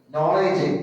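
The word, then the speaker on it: knowledge: ബോറാണ് തെറ്റാണ് വായിച്ചത് അല്ലേ നോളഡ്ജ് കെ ഉണ്ടാകും മുന്നിൽ അത് ഉച്ചാരണത്തിൽ വരില്ല ഇതേപോലെ അറബി ഭാഷയിലും ചില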